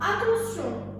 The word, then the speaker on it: attention: La lettre T devant la lettre I se prononce SE, comme le mot attention, le mot émotion. D'accord? Regardez ici, le T qui est suivi d'un I se prononce SE.